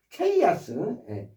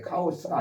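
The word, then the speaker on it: chaos: 혼돈 혼돈 그런 혼돈의 단어 케이아스 예로 바로 케이아스라는 단어가 있어요. 우리 보통 카오스라고 잘못 발음하기도 한는데 카오스가 아니라 카오스가 아니라 chos케스트라고 바로 이게 혼돈이라는 뜻이거든요.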